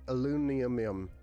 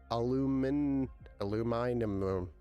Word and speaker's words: aluminum: Did I say it the British way or the Australian way or is it the British way? Alum alum. Aluminum. I don't even know how they say it, right? They say it a really messed up way, but it's aluminum.